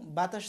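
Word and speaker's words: ب: বা উচ্চারণ করেন সবসময় এই ঠোঁটের দুইটা অংশ, একটা হচ্ছে শুকনো অংশ এই যে পাশের, আর একটা অংশ ভিতরে ভিজা। তা বা সবসময় ভিজা অংশ থেকে উচ্চারণ হবে বা।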